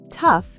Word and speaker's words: tough: Tough is pronounced like tough.